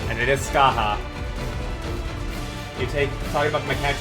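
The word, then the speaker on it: Scathach: and it is pronounced Skaha because it is from uh Irish Legend and in there they pronounce things very differently and it is Skaha you take talking about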